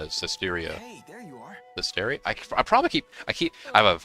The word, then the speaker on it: Zestiria: Zestiria? I probably I have a horrible habit of mispronouncing some of these names. Because I say Zestria, like, by habit.